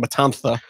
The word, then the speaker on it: Matanza: There's the kidnapped Lotus is being taken to Matanza, if you're saying it the correct Spanish pronunciation, Matanza.